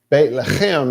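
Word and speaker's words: בית לחם: They, like for the Christians, Beit Lechem. Oh, what? Well, we don't know what that is. Bethlehem. Beit Lechem is how it's actually pronounced. Bethlehem is what it became in English.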